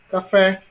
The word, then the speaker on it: café: Olha o café. Qual é a sílaba mais longa? Fé. Portanto, a sílaba mais forte é fé.